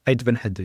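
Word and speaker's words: Ait Benhaddou: And also the other thing I would say is, because we were traveling and we'd visited Beit Hadu. Yes. Did I say it right? Yeah, you're right. Beit Hadu, yes.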